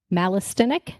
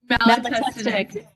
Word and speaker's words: Malatestinic: So we have with us Brenna Malistinic. No, I didn't say it right. Brenna, come off mute. Correct me. Malatestinic. Malatestinic, got it the second time.